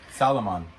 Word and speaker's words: Salomon: Salomon.